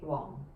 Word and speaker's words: Wong: this one is probably closest to how you pronounce it in cantonese as well because it's just the low tone wang right wong okay so michael wong is my chosen example